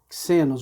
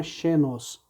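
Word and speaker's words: ξένος: ao nosso X, mas não o X pronunciado como, por exemplo, na palavra xícara, e sim na palavra táxi, tá?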